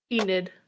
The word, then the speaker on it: Enid: So, I'm going to do that and then I'm going to go to Eden and I want it I'm sorry, Eden. Am I saying the name wrong? Enid. Enid. Enid.